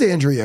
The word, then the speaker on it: Andrea: I think it was a girl named Andrea. Am I saying it right? Yeah, it is Andrea actually. Short redhead.